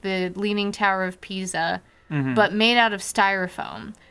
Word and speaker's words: Pisa: It was about the Leaning Tower of Pisa, and we got all this It's styrofoam. pronounced pizza. Yeah, that pizza tower.